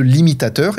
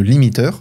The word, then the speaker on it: limitateur: s'appelle le limitateur et ce n'est pas une faute de prononciation c'est vraiment le limitateur et pas le limiteur donc le limitateur fixe